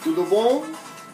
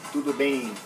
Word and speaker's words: tudo bem: Oi, tudo bom? No, tudo bem.